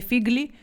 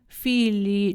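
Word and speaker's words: figli: ій ану мвкаємой філь Так, не фіглі, філі читається.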